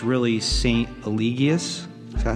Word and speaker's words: Eligius: Eligius.